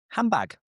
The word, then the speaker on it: handbag: Again, this D is dropped and we just say handbag.